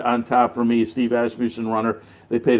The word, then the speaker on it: Asmussen: And then down at the fairgrounds this winter, they made a real point of checking out, and it's Asmussen.